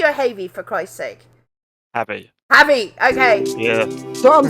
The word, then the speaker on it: Havey: It's just the word have with the Y on the end. Think of it like that. Yeah. Hey, Mr. Havey.